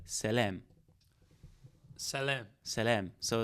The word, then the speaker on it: salam: And the way you pronounce it is like just saying simply like salam.